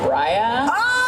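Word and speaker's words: Raya: to try to um it's pronounced Ria okay she's been there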